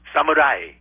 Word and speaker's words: samurai: it you do oh samurai yes you say that's the proper pronunciation wow and you would know well it's a broad a not uh you know